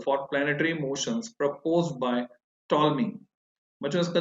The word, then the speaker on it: Ptolemy: The earliest recorded model for planetary motions proposed by टॉलमी। बच्चों इसका जो नाम है स्पेलिंग है PTOLEMY, जिसमें P साइलेंट है, टॉलमी।